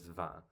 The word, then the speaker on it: vin: Like vine in but the French word for wine is van.